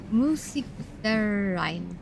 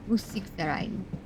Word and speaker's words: Musikverein: Be like Musik der Ein? Ein or Een? Ein? Yeah! I did it! Yeah! Musikverein. Musikverein.